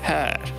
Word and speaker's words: hör: Ensuite, on a la voyelle E, donc O avec deux pointus, qui se prononce différemment si elle est suivie d'un R. Jag hör. C'est pas jag hör, c'est hör.